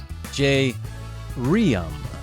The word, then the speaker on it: Jay Reum: and my sidekick my man and about town J Ram yes and I said it correctly well done